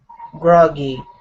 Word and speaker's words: groggy: good job good uh this word here is pronounced grogi instead of grogi it's grogi grogi groggy good um his groggy morning smile his groggy